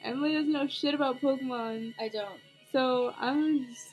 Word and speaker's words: Pokémon: That's how you pronounce it. It's Pokemon.